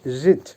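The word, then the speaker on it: жить: পিসাচ বাংলা হবে লেখা বা রাইট ভার্ব জিত উচ্চারণ হবে জিত যার বাংলা হবে বাস করা বা ইংলিশে হবে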